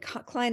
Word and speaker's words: Kline: clein do s and Klein is k l i n e like the word line with a K in front of it most people misspell